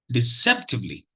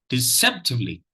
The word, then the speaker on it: deceptively: particular uh syllable has attracted distress so the pronunciation of the word goes like this deceptively deceptively deceptively deceptively so uh if you notice the the second